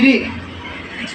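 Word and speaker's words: read: রিড, রেড, উচ্চারণ আলাদা কিন্তু বানান এক।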